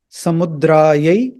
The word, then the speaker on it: samudra: at the IST notation this has neither a DOT below the S here neither has a DOT below nor a forward slash so this has to